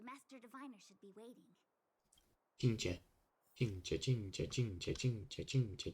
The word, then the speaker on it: Qingque: She pronounces it Qingque. We're almost at the Matrix of Prescience core. The Master Diviner should be waiting. Qingque.